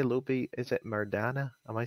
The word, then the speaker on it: Maydana: Is it Maydana? Am I saying it right? Maydana.